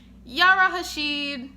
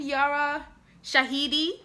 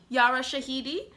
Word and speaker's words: Yara Shahidi: do not like zoe um yara hashid is that how you say her name yara shahidi yara shahidi colorism is really working